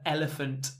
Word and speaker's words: elephant: The elephant in the room. The elephant in the room. You can almost get rid of the T for British pronunciation.